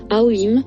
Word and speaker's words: Aum: On ouvre la bouche avec la voyelle A, on l'arrondit avec le OU et on la ferme pour le M. Le même système vaut pour les syllabes Aum, Aum, Aum, Aum, Aum.